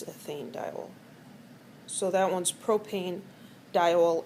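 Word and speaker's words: ethanediol: And the E here on ethane is left in there just to make it easier to pronounce. So instead of ethan dol, it's ethane dol.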